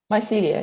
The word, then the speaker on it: Mycelia: What was the biggest takeaway lesson that you learned from your experience starting Mycelia? Am I saying it right? Mycelia, yeah.